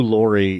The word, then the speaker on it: Laurie: And I think that Hugh Laurie, it's spelled the same way, but it's pronounced Laurie, even though these guys say Lurie.